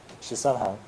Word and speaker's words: Shisanhang: Shisanhong. Shisanhang Yeah.